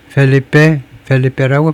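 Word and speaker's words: Felipe: 스페인스 킹 펠리페라고 발음해야 되겠죠.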